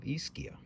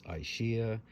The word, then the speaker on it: Ischia: Bay of Naples it's the island of iskia and I've seen some pictures of it it looks like a magical place a lot of people call This aishia And I've been saying it wrong as well and I actually did a little research this time and I'm trying to say it the right way it's really difficult for